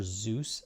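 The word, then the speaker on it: Dzus: It's actually for Zeus fasteners, and that's spelled D-Z-U-S, Zeus fasteners, but it works just as well on cam lock.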